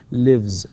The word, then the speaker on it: lives: فلذلك نقول lives تكتب S طبعا ولكنها تنطق Z.